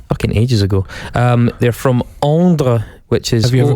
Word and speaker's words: Ondres: They're from Ondre, which is... Have you ever been to Ondre? Well, I've actually been very, very close to Ondre, which is spelled Ondres.